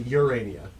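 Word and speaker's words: Jerania: a it's a SP it's a Spanish J it's a urania spell it really fast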